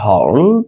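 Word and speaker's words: hurled: আমরা পরবর্তী দেখি, Delhi police allies, Delhi police অভিযুক্ত করেছেন বা অভিযোগ করেছেন দ্যাট সাম প্রোটেস্টার্স, কিছু আন্দোলনকারী, হার্ল, এখানে মূলত উচ্চারণটা হবে হার্লড স্টোনস, একসাথে তারা মূলত পাথর নিক্ষেপ করেছে, হার্লড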